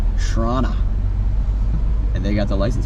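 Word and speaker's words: Chrawnna: in front of us spelled c-h-r-a-w-n-n-a shrana that's what they refer to Toronto as spell it with a C shrana and they got the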